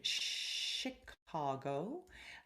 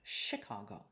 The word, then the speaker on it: Chicago: out for the word chicago normally you would have a ch sound with a ch ch quality but not in this case it is pronounced with a sh sound chicago watch out for something